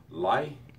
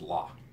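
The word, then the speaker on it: לִי: Notice the very slight I sound at the end of the H. It is lie. Okay. You're tempted to pronounce it as just la. And if you do, you can actually get by with it, because the pronunciation of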